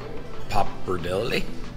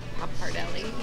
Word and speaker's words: pappardelle: Pappardelle? Pappardelle, yeah.